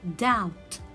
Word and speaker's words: doubt: death and hear doubt again silent letter y because it comes before letter t it will be doubt and here subtle subtle i